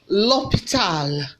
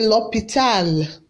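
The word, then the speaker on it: l'hôpital: hospital in french language how do we pronounce hospital french language lopital can you say that say lopital lopital okay hospital can be pronounced fresh as what l'hopital say clear wheezy clay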